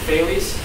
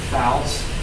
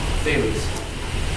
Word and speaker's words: Thales: Thales. TH. Many people mispronounce it Fouls. Yeah, don't do that. Thales.